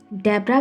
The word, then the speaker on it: Deborah: हम दबोरा को इंग्लिश में डेब्रा भी बोलते हैं, कुछ लोग डेबोरा बोलते हैं, और इसकी कई स्पेलिंग्स हमें देखने को मिलती है.